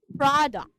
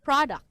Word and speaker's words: product: the words, mispronounced words, so the stress for this word, product, it's at the first syllable. Product, not product.